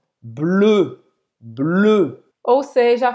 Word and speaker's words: bleu: Azul em francês é bleu. Bleu. Ou seja, faz a boca do O e fala E. Bleu.